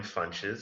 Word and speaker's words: Funches: I'm Funches. My name rhymes with lunches, so Funches, so you'll always remember.